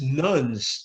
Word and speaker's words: Nones: I think the largest sociological change for those studying religion in the United States, the rise of the religious nuns, that's spelled Nones, where up to 40%